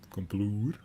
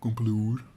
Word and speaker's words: Komploer: Komploer. That's how I pronounce it. Komploer. It's a Dutch name.